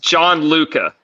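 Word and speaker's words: Gianluca: It's pronounced John Luca. John Luca. John Luca. Okay. Yes, but he just goes by Luca.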